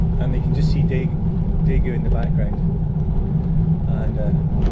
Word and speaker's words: Daegu: Just approaching a city called I think it's pronounced Daegu, which is about 370-ish kilometers down the trail from Seoul.